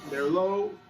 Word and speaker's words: Merlaud: That was, again, Serge Merlaud. It's just like the wine pronounced, but it's not spelled that way. It's Merlaud.